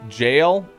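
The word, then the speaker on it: gaol: It's still pronounced jail. It's just spelled weird. Wait. Go. G O A L is pronounced the same as jail. Sorry. G A O L is the same as J A I L.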